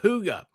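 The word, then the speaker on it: hygge: Huga.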